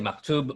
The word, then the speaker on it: maktub: Also, yeah, like so even having here the maktub, it is written. Am I pronouncing that right? I would say maktub, but yeah.